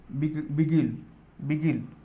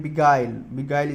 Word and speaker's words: beguile: Then next word है बिगिल, actually इसका pronunciation है बिगाइल इसका एक्चुअल प्रोनाउंसिएशन है, ठीक है।